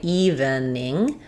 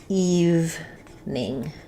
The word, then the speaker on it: evening: So it's kind of weird because it's not based on the word even, it's based on the word eve, where the E is silent.